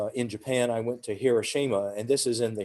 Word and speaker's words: Hiroshima: a city of rivers you can pronounce it hiroshima if you want hiroshima is what i actually heard hiroshima's fine and so this was the